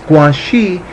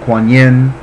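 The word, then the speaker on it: Guanyin: so many different ways guanxi is the Chinese pronunciation and it is as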